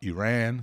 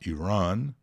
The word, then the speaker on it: Iran: planilha né Vamos lá há duas pronúncias aliás H três né Você pode falar Iran Você pode falar Iran e você pode falar Iran as mais comuns eu acho que são nessa ordem que eu falei Iran depois Iran e algumas pessoas falam Iran não é não é